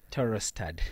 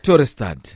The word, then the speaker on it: Torosterdt: How do you pronounce this one? Torosterdt. Torosterdt.